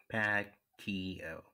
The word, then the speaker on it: Paquiot: Paquiot is how the name is, the family name is pronounced. The T is silent.